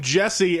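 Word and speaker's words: Jussie: That's not how you say his name, but that's how I say it, because his name is, when people call him Jesse, and I'm like, that's a U. His name has a fucking U in it.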